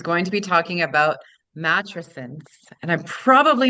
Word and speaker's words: matrescence: matrescence, not Matrescence. a matrescence. It kind of rhymes with adolescence.